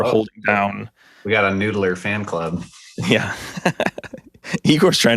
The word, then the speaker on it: NDLR: So how do you say it? You say Noodler? I say Noodler, but it's NDLR. I think it is Noodler.